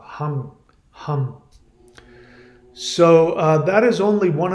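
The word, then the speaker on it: Ham: it's it's pronounced it with an NG even if you close the mouth hum hum so that is only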